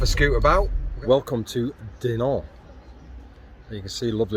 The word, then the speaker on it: Dinant: place called Dinant, or Dinant, or Dinant. Dinant. Silent T at the end, guys.